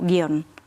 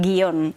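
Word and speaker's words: guion: lados del océano y la mayoría de hablantes españoles lo dicen como monosílabo, guión. No dicen guión, que es una forma más de bisílabo, ¿no? que pronunciamos en España.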